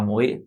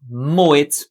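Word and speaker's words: Moët: como você quiser, mas moet, porque ele não é um nome de origem francesa, então não segue a regra clássica aí que seria uma pronúncia francesa, comendo esse T aqui como Renault, Peugeot, enfim.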